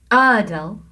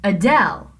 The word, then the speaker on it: Adele: singer Adele that's because we have an unstressed syllable first uh and then del is the stressed syllable if you were talking about the singer Adele you couldn't say Adele you have to say Adele so the little up